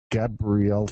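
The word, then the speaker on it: Gabrijelčič: How do you pronounce his last name, Anders? Primoz Gabrielchev. Gabrielchev, I think.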